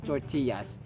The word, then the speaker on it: tortillas: who loves to eat tortillas stupendous tortilla tortilla tortillas tortillas this word is a Spanish origin that's why two LS are equivalent of y yeah yeah for example